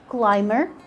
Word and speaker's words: climber: The B is going to be silent after an M in words like climber, plumber. In these words, the B is still silent.